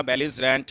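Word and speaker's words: belligerent: Next जो word है आपका बेलिजरेंट, बेलिजरेंट, ठीक है। इसका जो बेलिजरेंट इसको हम बोल सकते हैं हम बेलिजरेंट, ठीक है। तो इसकी प्रोनाउंसिएशन है ब्लिजरेंट।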